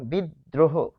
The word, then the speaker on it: বিদ্রোহ: এরপর আমরা দেখব যে আরেকটি উদাহরণ বিদ্রোহ। বিদ্রোহ। খুবই ইম্পর্টেন্ট। যেহেতু র থেকে যায় তাহলে বিদ্রোহ এখানে আমরা লিখবো যে বিদ দ্রহ তাহলে এটি হবে বিদ তারপর দ্র হদ্র হোক এখানে হবে অসন্ত তাহলে